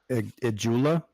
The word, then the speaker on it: Ijula: Ijula? Yeah, the jewel.